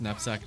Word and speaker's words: knapsack: Nap has a silent K, but also sack has a pronounced K.